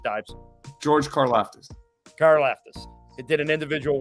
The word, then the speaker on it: Karlaftis: So, and I know I just read that The kid from Purdue, I don't even, how do you pronounce his name, Dives? George Karlaftis.